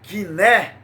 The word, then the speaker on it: koiné: todo em grego o grego koiné que é pronunciado quiser é um grego diferente de como se fala